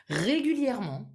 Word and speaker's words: régulièrement: So you wouldn't say normalement, régulièrement. The pronunciation would be normalement, régulièrement. Almost as if this E was not there.